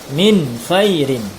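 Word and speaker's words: مِنْ خَيْرٍ: izhar Bagaimana cara membacanya Nun matinya dibaca jelas tanpa dengung Min khairin ya ditekan Nur matinya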